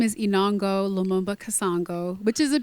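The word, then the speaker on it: Enongo: is not my name my real name is inango lumumba kasango which is a beautiful name and can you repeat again yeah yeah inango is my first name last name so beautiful it is and it Rhymes so I always tell people I was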